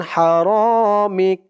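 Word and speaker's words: حرامك: Calf জবর কা, আন হারামিক। আপনারা এই দোয়াটির এখান থেকে এই পর্যন্ত বলে এখানে থামবেন। থামলে উচ্চারণ হবে আন হারামিক। মিক, মিম দিয়ে কাফ ধরলে যেমন উচ্চারণ হয় এখানে তেমন উচ্চারণ হবে, মিক।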